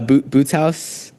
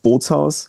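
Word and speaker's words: Bootshaus: Yeah, I saw you played uh Boot Boots House in Germany. Is that the right way to say it? Yes. Okay. Uh almost. It's like Boots House. Boots Bolts House.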